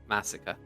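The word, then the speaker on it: Masika: it no so it's it's like Massacre but not pronouncing the r m a s i k a a massacre massacre I mean that sounds like you're saying it the right way it sounds like you're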